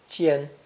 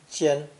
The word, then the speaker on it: 尖: This new character, pronounced first tone, jian, jian, was a simple description, a tiny tip which becomes bigger as it becomes longer.